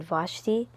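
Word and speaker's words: Vashti: um and his queen queen vashi is how you pronounce it Queen vashi threw a a banquet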